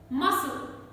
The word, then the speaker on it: muscle: death doubt subtle then letter c can be silent in words muscle muscle not muscle m-u-s-c-l-e s-c combination c is silent then scissors scissors disciple